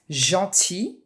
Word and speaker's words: gentil: Gentil, for masculine and feminine is the same sound, same as famille, one of your topics.